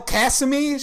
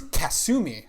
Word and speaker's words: Kasumi: I like that dim girl, Kasumi. She's pretty great. She's a first year. You fucking American. I know, right? How dare I? No, it's Kasumi. How dare you mispronounce?